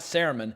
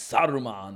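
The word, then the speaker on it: Sauron: the house it wasn't it's not cerumen it's Sodom on like he really took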